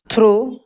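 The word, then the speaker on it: through: जाएगा ऑल बी पुट थ्रो अच्छा यहां पे देखिए टी एच आर ओ यू जी एच लिखा है इसको थ्रो पढ़ेंगे अगर टी एच ओ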